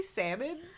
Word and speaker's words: salmon: I mean I say salmon but like ignore the L dude I pronounce it